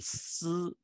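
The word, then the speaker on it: 獅: the word for lion, si, and the word for teacher is also si, like Sizi for lion and Lao Si for teacher. Lo Si for teacher, Si Ji for lion, both pronounced Si.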